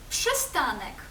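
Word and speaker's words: przystanek: Це таке типове польське буквосполучення пш. Та ш пш. Наприклад, у слові пшестанек зупинка. Пши. Пшистаник тши.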